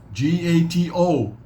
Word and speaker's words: gato: come got to g-a-t-o what's that's pronounced like g-a-t-u gato gato belly skin belly belly